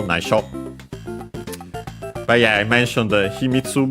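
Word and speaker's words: 内緒: So actually keep it a secret from everyone, but the secret there is naisho, accented by the way on the last syllable, naisho.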